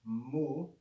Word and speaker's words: mu: to recognize this is the greek consonant mu pronounced mu to make the lowercase simply draw a vertical